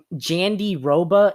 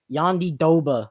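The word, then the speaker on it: Jandiroba: pro broadcast it was it was spelt like jandy roba if you want to pronounce it in an english term but like the actual way to pronounce it you think it'd be yondi oba or something like that but it was like yandi doba they were pronouncing it as so i'm just gonna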